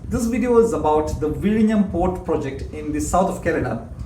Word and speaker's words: Vizhinjam: Roll your tongue over and get it right, like Kozhikode and Alappuzha. So not Vizhinjam, but Vizhinjam. But don't worry, you'll get